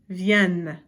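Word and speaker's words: viennent: here there's two and because of the two ends you get this beautiful pronunciation of vienne so make sure you notice that over here it's via and it's a nasal sound there you don't actually hear the N but over here for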